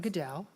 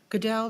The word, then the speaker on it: Goodell: My name is Goodell, just like the color. Goodell, Goodell, as we like to say in my family, like Roger, but nobody hates us.